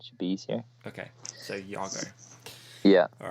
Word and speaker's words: Iago: So pronunciation of your name, it's Iago, right? Yeah. Is that right? Okay. In Spanish, an I is more pronounced like an E in English.